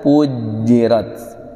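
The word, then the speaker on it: فُجِّرَتْ: Untuk bacanya PR-nya di wa idzal biharu pujirat. Di jimnya jangan ada puj, tapi puj ditekan. Pujirat.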